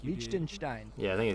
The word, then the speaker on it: Liechtenstein: Lima and in Liechtenstein, and I hope Ben thinks I pronounced that correctly. It sounded like you did. Liechtenstein.